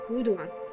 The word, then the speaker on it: Voodoo: other religion called uh Voodoo or voodu basically americanly pronounced Voodoo um they didn't like